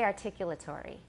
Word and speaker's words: articulatory: he says articulatory articulatory we say articulatory so how many syllables do I have articulatory I have six and how many does my British teacher have articulatory he has five the last one is sort of a semi syllable articulate articulate tree tree it's not really tree it's tree there's a very short schwa it's hard to counter but that's the way he says he says it okay sometimes native speakers